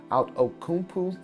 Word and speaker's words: Outokumpu: I know I'm gonna butcher the name, but I believe it is pronounced Outokumpu stainless steel.